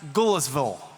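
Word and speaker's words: Goodlettsville: We're definitely going to be in Sumar County in in the city of Goodletsville, which I'm told I'm learning you have to pronounce Gulisville. Like your mouth is full.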